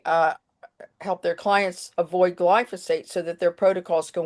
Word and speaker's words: glyphosate: So chapter 3 organic versus glyophate. Did I say it right? Glybo the pH is an F. Ah, glyphosate.